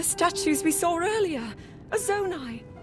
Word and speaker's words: Zonai: similar to the statues we saw earlier a zonai zonai that's how you pronounce it figures look like hylians were they